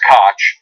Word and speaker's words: Kotch: But it's Kotch and not Koch, and he has nothing to do with them except to have contempt for them.